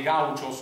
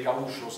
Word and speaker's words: gaucho: dell'Argentina, cioè nella pampa dei gauchos o dei gauchos a seconda che lo pronunciate alla portoghese o alla spagnola, perché lui era stato